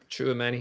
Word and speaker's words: Tchouameni: Tchouameni. Am I saying it right? Tchouameni? Tchouameni, yeah. Tchouameni?